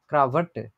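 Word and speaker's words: Krawatte: করছিলেন না যে হচ্ছে এই ডাব্লিউ হচ্ছে ভি এর মত উচ্চারণ হয় এই শব্দের ভিতরে থাকলে দেখেন এরকম একটা উচ্চারণ হয় ক্রাভার্টে আমরা যদি আবার দেখি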